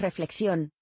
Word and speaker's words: reflexión: un nombre alternativo es reflexión se hace hincapié en la segunda sílaba el término deriva del